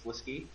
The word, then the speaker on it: Slisk: It's Sliskay. It's not Slisk. Slisk for a while, and then he realized he was saying it wrong. Nice. In the pronunciation guide, it says Slisky.